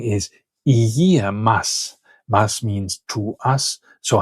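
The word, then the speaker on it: γεια μας: And this is then abbreviated in order to be easier to say. We drop the e from the beginning and it becomes yamas or yasu.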